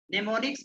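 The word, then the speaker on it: mnemonics: नेमोनिक्स का spelling होता है MNE, नेमोनिक्स, MO, है ना, ठीक है, यानी एम साइलेंट होता है।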